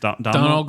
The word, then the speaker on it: Domhnall: Domhnall, is that? Yeah. How is it pronounced? Donald Gleeson. Donald Gleeson.